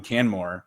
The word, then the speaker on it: Canmore: of that I think your your time in Canmore and am I pronouncing that correctly yeah it's perfect good so